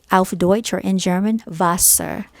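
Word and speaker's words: Wasser: you say water alpha deutsch or in german vassar it's w-a-s-s-e-r-u-r but it's pronounced vasa and um i'm just gonna step i love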